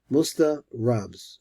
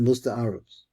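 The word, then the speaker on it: Musta'arabs: There's something called the Musta Arabs. Musta Rabs. Okay? I pronounce it Musta Arabs. They're like most Arabs.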